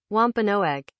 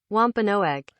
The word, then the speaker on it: Wampanoag: Wampanoag.